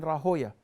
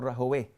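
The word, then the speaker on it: Rahwayh: And you remember things, words of, for example, Imam al-Bukhari was in the class of Abu Ishaq ibn Rahoya or Rahaweh, depending on who is pronouncing it.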